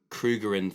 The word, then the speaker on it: Krugerrand: How do you spell it? Krugeerrand. Krugerrand. Krugerrand, that's right.